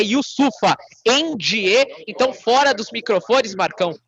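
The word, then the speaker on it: Yusupha Njie: ele confir firmou o yofa end Na verdade ele falou Inclusive a correção da sua pronúncia é yusufa end então fora dos microfones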